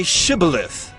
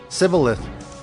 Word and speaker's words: Shibboleth: When he said, No, they said to him, Then say Shibboleth. And he said, Sibboleth, for he could not pronounce it right.